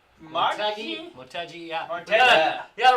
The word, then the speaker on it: Motegi: Twin Ring Mogi? Motegi, yeah.